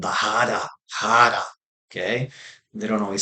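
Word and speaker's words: 腹: The R, it's Hara, but the R is pronounced like a D.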